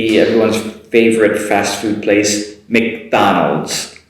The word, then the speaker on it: McDonald's: And everyone's favorite fast food place, McDonald's. Short Mc in the beginning, Donald's. McDonald's. McDonald's.